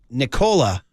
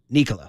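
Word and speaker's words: Nikola: It's my mnemonic device to remember it's pronounced Nicola, not Nicola.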